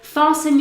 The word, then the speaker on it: fasten: This word here, fasten, you will already have heard this word on an aeroplane when they say fasten your seatbelts before takeoff.